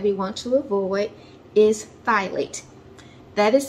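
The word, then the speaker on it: phthalates: seventh ingredient that we want to avoid is thylate that is spelled p-h-t-h-a-l-a-t-e-s the reason why we want to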